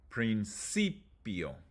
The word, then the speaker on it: principio: If the word ends in an ia, io, or ie, you emphasize the third to last syllable like this. Distancia. Principio.